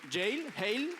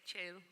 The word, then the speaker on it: Cheil: She's creative strategy from Cheil. How do you pronounce that? Cheil? What? Cheil? Cheil.